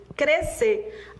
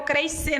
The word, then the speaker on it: crescer: Acender, você subir na vida, é com SC, mas o som é o mesmo, tá? Convalescer, SC. Crescer. Yara, eu vou crescer na vida. Não, você não vai crescer, você vai crescer. SC, mas a pronúncia é uma só.